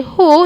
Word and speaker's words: who: who who we have when you say who you only pronounce h and o so pania and who